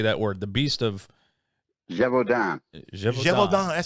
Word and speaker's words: Gévaudan: Gévaudan.